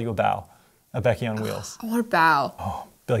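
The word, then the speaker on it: bao: B-A-O is bow. B-A-O. Bow.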